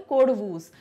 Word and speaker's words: Kodavus: कुर्ग को, तो कोडगू के रहवासी हो गए कोडवूस। तो ये व और ग में कंफ्यूज ना हो जाएं students, the spelling is KODAVUS, ठीक है, ये इसकी स्पेलिंग है।